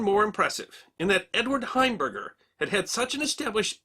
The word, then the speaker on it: Heimberger: early in his career heimberger had stopped using his last name for his acting credits because people kept mispronouncing it hamburger instead Edward Albert heimberger used